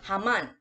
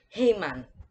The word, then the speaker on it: Haman: is any americans here i'm gonna say haman now don't pronounce it as hey man it's not don't it push it to the american ass accent so now you're saying